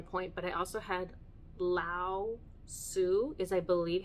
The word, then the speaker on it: Lao-Tzu: I had God jump in at one point, but I also had Lao-Tzu, is I believe how you pronounce it.